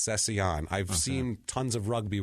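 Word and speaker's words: Cécillon: stutter Mark cesion CU it doesn't look right it looks like it should be cecilion but it's not it's L's in it it is it is I'll spell it for you it's c e with a accent over the E uh c i l l o n so I think it's cesan I've seen tons of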